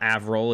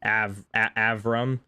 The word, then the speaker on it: Avram: But it's not Avril, it's Avram.